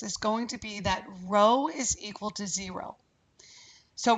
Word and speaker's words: Rho: correlation coefficient is Rho it looks like a P but it's not pronounced P it's pronounced Rho it's the Greek letter